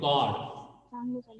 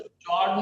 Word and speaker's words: chord: हाँ very good, कॉर्ड, इसको चॉर्ड नहीं बोलते, हाँ कॉर्ड बोलते हैं, ध्यान में रखिए, ये तो स्पेलिंग चोर्ड भी बोलते हैं कुछ बच्चे, चोर्ड है ना, CHORD, बट इट इज कॉर्ड।